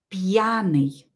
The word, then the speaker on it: пьяный: хорошо молодцы идем дальше пьяный пьяный уот из пьяный пьяный пьяный пьяный ударение на букву я пьяный с пьяный из